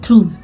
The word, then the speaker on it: through: अब आप देखेंगे कि ये जो थ्रू वर्ड होता है टीच को पढ़ते हैं आर ओ यू इसको बोलते हैं थ्रू इसमें जीच साइलेंट अक्सर जीच जब लास्ट में आया हो तो वो साइलेंट रहता है यहां पर उसको कुछ नहीं पढ़ते हम ये साइलेंट होता है छिपा होता है इसको